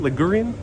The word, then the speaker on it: Ligurian: was derived from the dialect of Ligurian, is how you say it, Ligurian.